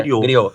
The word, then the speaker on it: griot: Griot é uma palavra francesa, griot, Exato. termina em T, mas Isso é é, griot.